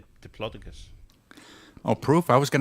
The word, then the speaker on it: Diplodocus: photograph of one and all the geologists pronounced it Diplodocus yeah fair enough I always always say diplodus oh proof I was